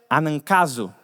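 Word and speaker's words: ἀναγκάζω: A raiz dessa palavra que se pronuncia anankazo.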